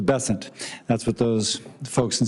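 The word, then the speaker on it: Bessent: Besson, I'm always going to pronounce your name as if it was in South Louisiana, and I'm going to pronounce it with a French Besson as opposed to Besant.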